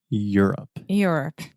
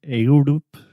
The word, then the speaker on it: Europe: on Europe on Europe Europe there we go a lot of our students have a really hard time with that word I hear a lot of ayodup a lot of Europe but we just say